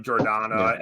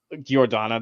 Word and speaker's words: Jordana: the middle kingdoms next oh is that how you pronounce it with the with a with a J sound i' I've been doing as like yeah fair enough how' you think it was pronounced Gordana the entire time like it's fine yeah